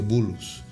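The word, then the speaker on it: Boulos: Sí, se pronuncia bulos.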